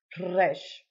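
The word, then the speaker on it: ר: Resh. Now, this one is difficult for Americans to pronounce, but you have to roll that R just like in Spanish or in Italian.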